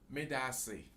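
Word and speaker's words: medaase: In my language, in Akan language, we say medase. Medasi.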